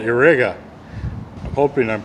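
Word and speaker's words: Irega: Now this wrench is actually, it's Channellock, but it is made in Spain by a company called Irriga. I'm hoping I'm pronouncing that close to correct. Irriga, I-R-E-G-A, Irriga, from Spain.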